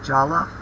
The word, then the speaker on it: Jollof: We're going to do Jollof rice, which is how it's pronounced, and right now I'm showing you that